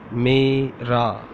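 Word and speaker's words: میرا: How to say in Urdu mera, mera, MERA, mera. In original Urdu we say meem, छोटी ये, रे, alif. It becomes मेरा.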